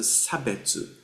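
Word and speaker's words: 差別: In colonial Japanese uh this word shabetsu is uh pronounced as a sabetu and then sabetsu is a discrimination.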